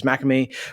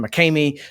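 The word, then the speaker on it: Makemie: which was relevant to Francis McCamey or McCamey, depending on who tells you how to pronounce it, when he was arrested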